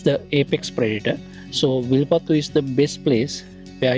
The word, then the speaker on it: Wilpattu: hands okay so today we are here in wipat National Park I hope my pronunciation is correct yes it's correct okay so